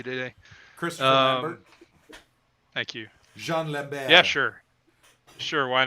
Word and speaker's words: Jean: Name is Jean, like the French pronounce it Jean.